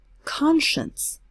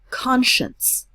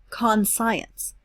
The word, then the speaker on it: conscience: side and the word that's in the sentence conscience this is an interesting word and all of